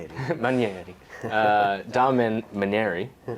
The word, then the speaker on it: Manieri: That's how you pronounce your last name. Maner. Maner. Sorry. I made it I made it very Italian in the way that I pronounced it. Maneri Maneri uh Dom Maneri who is the owner